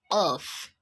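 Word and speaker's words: Qaf: is a song later you pronounce it as off of it's your thunk that is doing the work but your truth is just um open it so off of off as in off then we have um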